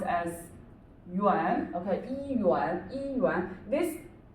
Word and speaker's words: 元: Or you can also say 一元, okay, so this word is pronounced as 元, okay, 一元.